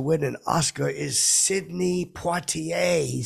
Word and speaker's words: Poitier: an Oscar is Sidney Poitier he said that to me and uh I know who Sidney Poitier is I I pronounce the RS I probably shouldn't have I was flustered I